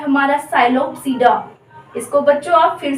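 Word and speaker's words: Psilopsida: इसको बच्चों आप फिर से गलती करोगे, पी साइलेंट रहता है, इसमें ध्यान रखना, वरना इसको बोल दोगे तो साइलोप्सीडा, ये नहीं होगा, गलत हो जाएगा आपका, इसीलिए मैंने आगे हिंदी में लिखा भी है साइलोप्सीडा।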